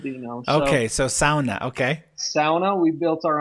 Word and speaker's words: sauna: The the two that came to my mind is sauna, pronounced sauna in America, but it's a Finnish word, Dino. Okay. So, sauna.